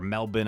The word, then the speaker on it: Melbourne: way from New Zealand top four Melbourne or Melbourne I should say is like how they pronounce it in uh 2022 and here we